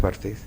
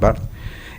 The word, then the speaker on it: Barthes: Dice Roland Barthes, perdón, esa es la pronunciación correcta, no es Barthes. Se escribe Barthes, pero se pronuncia Roland Barthes.